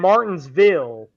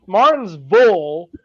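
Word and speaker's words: Martinsville: __ ] that well he kept saying Martinville which is yeah wrong Martin Martin's V which is how you say it it's just for everybody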